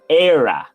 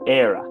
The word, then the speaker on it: Éire: but the pronunciation is Éire. It's almost like Éire, like aire, but no. So Éire. I don't know how, but that's how you pronounce it. Éire.